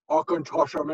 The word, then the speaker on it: Auchentoshan: Now, a lot of you have a hard time pronouncing Auchentoshan. So I put this mnemonic together. Think Sir Sean Connery, Auchentoshan into the river much easier than you can.